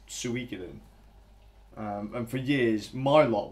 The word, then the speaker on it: Suikoden: Suika didn't a lot of people used to pronounce that one sue coded but you can I'm surprised but it's Suikoden and for years my lot would call it